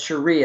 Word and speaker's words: Cherie: Right, right, and that's Cherie. It's not Sherry. So even though you spell it correctly, just keep in your mind it's Cherie.